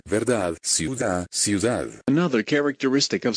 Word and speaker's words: verdad: You don't pronounce the D in words like verdad, verdad, ciudad, ciudad.